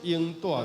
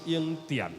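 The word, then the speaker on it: 永踮: 对，就是永住天庭，安尼唔对。吼，照白话字的发音是永踮，吼，踮伫上帝身躯边。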